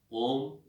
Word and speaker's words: ओम: अब है ओम, ओंकार। ओम का उच्चारण करेंगे अ, उ और म।